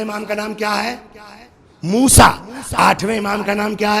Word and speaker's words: موسیٰ: موسیٰ۔ اکثر ہم لوگ موسی کاظم کہہ لیتے ہیں، لیکن اس کا شدھ اچارن جو ہے، شدھ صحیح تلفظ کیا ہے؟ موسیٰ۔ اسی لیے آپ نے